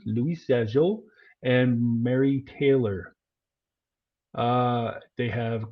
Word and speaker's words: Louis Jadot: And that's Louis J. Dot, the French pronunciation, Louis Jadot, and Mary Taylor.